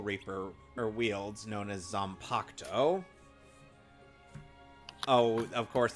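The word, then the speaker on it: Zanpakutō: or wields known as zompocto oh of course they don't pronounce the u in in the uh names on pacto what's wrong with your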